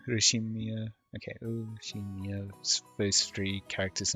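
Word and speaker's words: Ushiromiya: The first part is my family name, Urushimiya.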